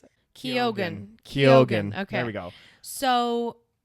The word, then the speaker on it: Keoghan: Wait, it's literally pronounced Keoghan. Hold on, wait. He says it. Keoghan.